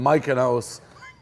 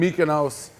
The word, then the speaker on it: Mykonos: The first one, Lindsay Lohan is in Mykonos. What just happened? Mike, it's just, It's Mykonos.